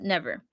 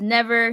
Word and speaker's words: NVR: It's just spelled NVR, but it's pronounced Never. So, artist name is Never.